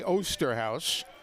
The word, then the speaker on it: Osterhaus: You see that spelling. It could be a lot of things. He pronounces it the straight American way, Osterhaus. If we were on the golf course, it would have been Oosterhuis.